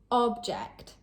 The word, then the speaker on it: object: Object. As a noun, this means an item or thing. For example, there weren't many objects in the room. Object. As a verb, this means to oppose or disagree with something.